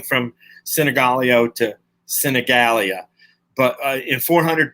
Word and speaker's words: Sinigaglio: the Americans know, Sinigaglio. So you asked me how many people pronounce my name wrong. Yeah. So you know why it's the G can be, both G's can be silent.